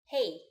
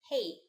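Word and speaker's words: 嘿: it every day already hey hey if it sounds familiar it's because it's just like the English hey but make sure to say it with the right Mandarin tone hey when you want to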